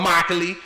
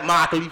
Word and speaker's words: Immokalee: are from Immokalee, Florida, Immokalee. You know what I'm saying? We spell that shit with an I, but we pronounce that shit without it. Immokalee, Florida, what's up?